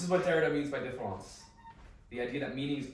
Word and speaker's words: différance: It's a deliberate misspelling, though the two are pronounced identically.